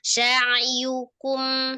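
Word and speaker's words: سعيكم: Nah, perhatikan di sya'yukum. Sya'yukum gitu kan Umi bacanya. Itu kira-kira kepisah nggak sya'yukumnya? Sa'yukum Ya, jangan dinaikkan dia ya, jangan di sa'yukum, jangan, tapi sa'yukum, satu kata, sa'yukum.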